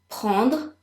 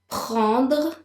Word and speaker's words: prendre: Prendre. Prendre. Make sure you're pronouncing the R. Prendre.